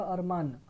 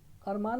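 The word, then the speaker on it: अरमाँ: দেখো বহত নিকলে মেয়ে আরমা বা আরমান আরমান উচ্চারণ করে না আরমা উচ্চারণ করে তো এখানে বলা হচ্ছে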